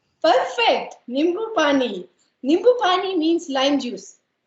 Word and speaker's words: nimbu pani: Nimbu pani. Perfect. Nimbu pani. Nimbu pani means lime juice. Okay. Nimbu pani.